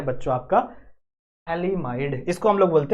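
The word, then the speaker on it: phthalimide: गया यहां लिख दूं य पी साइलेंट है जो पी है शुरू में हम लिख रहे हैं यह साइलेंट है इसको आप पथली माइड पढ़ सकते हो इफ you want to read पढ़ सकते हो बट बाहर मत जाके बोलना बेइज्जती हो जाएगी आपकी आपको पता नहीं होगा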